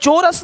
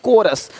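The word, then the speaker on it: chorus: यहां पे क्या लिखा चोरस नहीं कोरस देख रहे हो शिफॉन यहां पे शिफॉन है शिफॉन कौन है?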